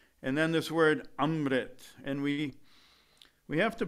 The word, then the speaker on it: amrit: after the ah sound which means you have to vibrate it up in the nasal conch and these shepherds work